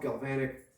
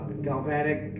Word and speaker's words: galvanic: working with steel and aluminum and it's called galvanic corrosion so um you need to have separated tools my wife is laughing at me because the way that i pronounced it uh galvatic galvanic how the you want to say i'm